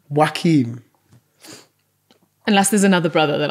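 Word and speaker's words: Joaquin: Hanks a Tom Cruz do you mean Wakee Phoenix is that what it is yeah it's not how you spell it to be fair how did you say it w Wakim unless there's another brother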